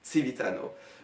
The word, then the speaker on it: civitano: Donc c'est un jeu de mots en espéranto entre savoir qui se dit si et citoyen qui se dit Civitano. Voilà, le C se prononce ts.